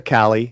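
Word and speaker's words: Calle: Sasha. Calli. You can say Cali.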